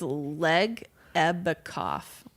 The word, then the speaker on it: Legebokoff: name it's like no it's not le it's leg a back off back off probably yeah question god yeah